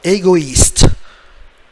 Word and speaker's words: égoïste: Il faut dire une autre fois égoïste. E est muet. So silent letter at the end. The E is silent.